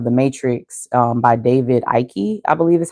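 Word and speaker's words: Icke: um children of the matrix um by David Ike I believe is how you pronounce his name and I recently became aware that I guess he is a well-known conspiracy theorist.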